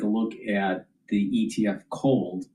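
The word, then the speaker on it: KOLD: So you want to take a look at the ETF cold spelled with a K. K O L D.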